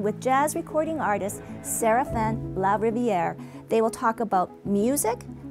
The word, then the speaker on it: LaRiviere: Did I pronounce it right, Serafin? Yep, LaRiviere. That's just perfect.